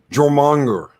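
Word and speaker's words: Jörmungandr: Jormungandr.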